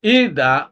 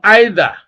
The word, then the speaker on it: either: You can pronounce this as either or either.